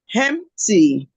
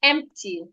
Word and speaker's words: empty: Empty. Don't add the H. Empty. Empty. Don't add the H. Hold your breath.